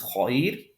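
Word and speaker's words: خير: The third letter before has a fatha, but because of the ya sukoon, we pronounce this heavy. This is khair. I'm sorry, not heavy, light. Tarqiq, not tafkhim, tarqiq. Khair, this ra is going to be pronounced light.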